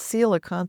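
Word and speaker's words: coelacanth: It's spelled differently than it sounds. It's sealant is the pronunciation.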